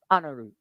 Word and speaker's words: Anaru: Because Andrew in Te Reo Māori is pronounced anaru.